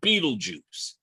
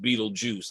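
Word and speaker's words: Betelgeuse: So, in the hunter's shoulder, there's a stall called Beetlejuice. It looks like Beetlegeist, but it is pronounced Beetlejuice.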